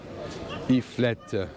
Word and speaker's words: tartiflette: You have to pronounce the et at the end. Tartiflette.